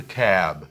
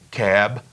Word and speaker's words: cab: Take a taxi, ou então take a cab. Cuidado com essa pronúncia do B final. Cab, cab.